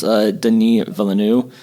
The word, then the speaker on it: Denis Villeneuve: the director, I believe it's pronounced Denis Villeneuve.